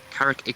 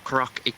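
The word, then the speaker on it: Karak: Carrick Peaks or Karac peaks if you're pronouncing it proper.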